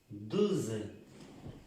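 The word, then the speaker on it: douze: La O y la U, 12.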